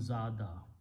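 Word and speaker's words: زاد: Zayada, za, ya ya with a fatha will sound like an alif. So, this becomes zada.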